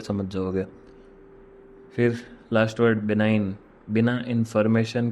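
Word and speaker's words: benign: अनुकूल रहा वह मेरे मतलब फेवरेबल बिनाइन बिना इंफॉर्मेशन के फेवरेबल रहा मुझे बिनाइन और इसको बिनाइन बोलते हैं बी इ एन आई जी एन स्पेलिंग्स याद कर लीजिए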